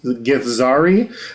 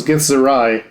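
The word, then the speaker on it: githzerai: I have been mispronounced I misread that like years ago and I thought it was gith Zari but no it's gith zarai you have followed this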